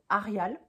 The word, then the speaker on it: Arial: qui me plaît énormément il s'appelle Nino Arial comme ça se prononce a r I a l je le trouve très